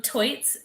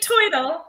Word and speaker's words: Toits: I'm Toits. Like a tiger. I never know how to pronounce it, so there you go. It's like Toidle. It's turtle, but Toidle.